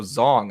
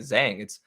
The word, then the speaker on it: Zhang: I learned that it was also Zong. I've been pronouncing it Zhang. But apparently it's Zong Weili, and yeah, but Rose dominated those championship rounds, which is right.